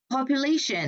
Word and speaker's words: population: Population là âm ba, yeah. Trước cái duction này thì nó phải nhấn vào cái âm trước đó.